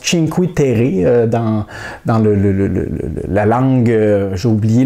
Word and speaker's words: Cinque Terre: que ça se prononce Cinque Terre dans la langue, j'ai oublié le nom de la région, je pense que c'est en Italie. Alors c'est bien ça, c'est en italien, donc Cinque Terre.